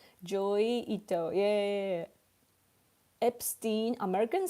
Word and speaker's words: Epstein: One is pronounced with accent and the other one is pronounced with English language. It can be read as Epstein and Epstein, but we say Epstein.